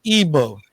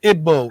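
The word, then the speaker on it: Igbo: e b o and you ignore the silent G it's not it's the silent G in itself isn't completely silent so it's not it's not EO it's IBO it's I'm not going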